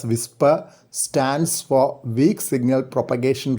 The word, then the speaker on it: WSPR: kilometers on 7 megahertz wspr pronounced as whisper stands for weak signal